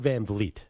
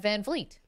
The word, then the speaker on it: VanVleet: Fred VanVleet. Fred VanVleet. Yeah. What did I say? No, I always say it wrong. I always get sometimes Fred VanVleet. You get a little F in the second V.